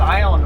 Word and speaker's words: Ione: We're heading into Metaline Falls and Metaline and then Ione, and I got Ione right for sure.